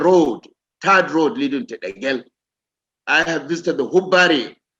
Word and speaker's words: Degel: Unfortunately, here in Kaduna, they don't even pronounce Degel. There is Degel Road, but they call it Degel, unfortunately, and I hope that will be corrected. The correct pronunciation is Degel.